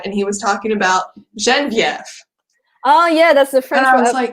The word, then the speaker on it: Geneviève: He's like, Geneviève, ma femme. I was like, no, her name is Genevieve.